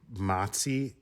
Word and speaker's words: Mpasi: I don't know how to pronounce her last name. Masi. It's spelled Mpasi.